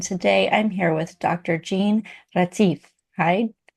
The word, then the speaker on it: Jeanne-Mari Retief: Jean Ratif. Hi, how are you? Good, thanks. And you? That was a great pronunciation.